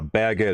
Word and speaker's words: baguette: Yeah, baguette is how you say it.